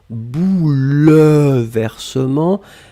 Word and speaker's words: bouleversements: substantif au pluriel bouleversements alors attention on écrit vraiment eu après le elle même si phonétiquement il n'existe pas vraiment on ne dit pas bouleversement mais on prononce bouleversement mais le 1 doit être là et bien sûr le